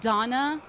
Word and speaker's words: Dana: eight or nine uh Donna it's spelled Dana but it's pronounced Donna in both Japanese and English um that was a